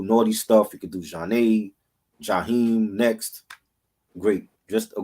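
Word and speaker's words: Zhané: Janae, pronounced Janae.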